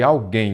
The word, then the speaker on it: alguém: aqui Como de fato como a sílaba tônica é a última você você já vai se lembrar de que de fato ela é oxítona Pois é uma palavra oxítona terminada em aí você